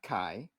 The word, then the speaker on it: Kai: that Cas and and did you say K's or Kai how do you say that oh it's Kai um okay just